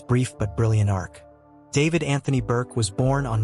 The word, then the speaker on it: D4vd: A shy kid, David found solace in Fortnite, streaming montages on YouTube under the name D4vd, pronounced David, a moniker he chose for its simplicity.